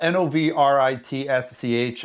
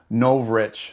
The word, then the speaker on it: Novritsch: word but it's spelled n o v r i t s c h and I believe it's pronounced Novritsch so like no rich.